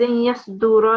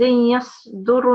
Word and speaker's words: يصدر: And then it's you have pronounced a fatha on the ra here. It was يومئذ يصدر الناس, you said, but it's a dhamma, so it will be يومئذ يصدر الناس. And then it's thin.